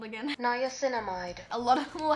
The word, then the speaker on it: niacinamide: Niacinamide. Niacinamide. I was not pronouncing it like that.